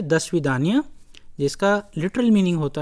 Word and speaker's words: До свидания: However, the literal meaning of the svidanya is, if you can see, दो स्वीदान्या, दो स्वीदान्या, लेकिन जब प्रोनाउंस करते हैं तो बोलते हैं दस्विदान्या, दस्विदान्या, टिल वी मीट अगेन, अगर इसको लिटरली हम लोग ट्रांसलेट करें।